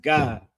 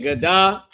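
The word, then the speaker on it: גד: It's just pronounced God, like God and Da connected. Instead of it being Gadah, it's just God, right?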